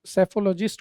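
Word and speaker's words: psephologist: दोस्तों यहां पर पी जो है वो साइलेंट है और सेफोलॉजिस्ट को हिंदी में हम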